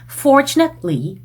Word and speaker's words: fortunately: 틀리라고 발음하시면 감점 나오는 그런 단어들입니다. fortunately 한다든지 currently 한다든지 그러면 둘 다 감점이에요. 그러니까 fortunately, currently 이런 식으로 T랑 L 사이에서 잠깐 끊어주는 느낌 요 느낌을 연습하셔야 fortunately, currently 뿐만이 아닌 recently,